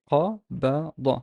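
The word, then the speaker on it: قبض: qa, ba, da. So these are two velarized letters, the qaf and the da. So how would I pronounce it? Qabada, qabada, qabada. Notice that the fatha here is velarized and the da and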